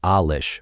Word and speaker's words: Alish: the way it's pronounced Alish with the accent on the first syllable was 5 years younger